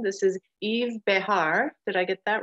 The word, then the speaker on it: Yves Behar: of video watching to find out how to pronounce his name this is Yves Behar did I get that right good job I'm